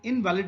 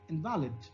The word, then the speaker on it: invalid: A shift in stress, that is of relative forcefulness or loudness of a component element in an utterance from the first to the sound syllable, convert the noun invalid into the adjective invalid. Okay, look here. Here the primary stress mark is on I. It means invalid. Okay, it is a noun, invalid. But if I say invalid, okay, then it becomes an adjective, invalid question.